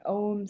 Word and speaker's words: ogham: And in historical terms, on the left, you can see an example from Ireland called an ogham stone, it's pronounced.